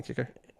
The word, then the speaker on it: Kiecker: I think it's spelled Kiecker. Dana Kicker.